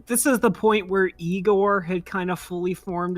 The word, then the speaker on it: Igor: from those movies yeah now it's pronounced aore yeah and and you